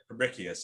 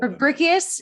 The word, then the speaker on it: Fabricius: And I want to get to that in a second, but also astronomer Johannes Fabricius, is that how you say it? Fabricius, I think we call Fabricius, he discovered sunspots.